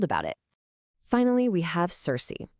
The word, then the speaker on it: Circe: Finally, we have Circe. Sometimes you'll hear it pronounced Kirky.